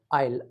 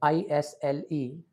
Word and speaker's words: Isle: Lake Isle, Isle, ISLE. This should not be pronounced as Isle.